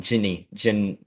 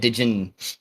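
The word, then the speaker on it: Djinn: Jin. Jin. I know. Yeah, it's spelled Dijin. Yeah. Yeah. So I've always said it in my head, Dijin.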